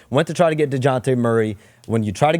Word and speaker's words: Dejounte: We didn't know that I pronounce it with a Y. Deontay.